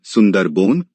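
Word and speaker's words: সুন্দরবন: उत्तर सुंदरवन का डेल्टा सुंदरवन बांग्ला उच्चारण सुंदरबन भारत तथा बांग्लादेश में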